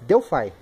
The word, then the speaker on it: Delphi: Delphi, galera, que é o modo correto para se pronunciar isso aqui, tá? Tem gente que fala Delphi, Delphi, nada disso. Delphi.